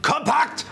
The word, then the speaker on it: Kompakt: just learned something actually it's called the uh Sennheiser md421 compact which is a nice way of saying it politely in German okay so um also spelled with a K which is very very German very very German right